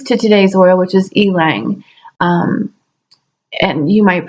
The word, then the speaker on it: ylang: people pronounce it differently I just pronounce it ailing because I know the way I can sound like an e and then we just have laying right there are various types but